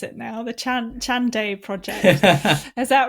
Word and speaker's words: Chande: It's the the Chandai Project. That's Ch H A N D E, which often gets mispronounced as Chandi or Chand. Yeah, it's Chandai.